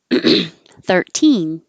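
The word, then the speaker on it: thirteen: 13 13 13 and it doesn't always have to have stress on the teen if you were counting you definitely wouldn't say 13 14 15. what's changing is what's important 13 14 15. if you were talking about a quantity of something it's 13 then it would be on the third 13 it's 13 pounds it's anything else if it's time then you do stress the teen it's 6 13 um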